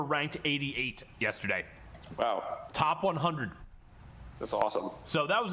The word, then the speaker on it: Episode X: It is 10, by the way. It's pronounced 10.